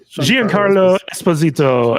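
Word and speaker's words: Giancarlo Esposito: is that John Carlo Gian Carlo Esposito you almost have to have an accent to say his name it's like J Carlo Esposito yes his character was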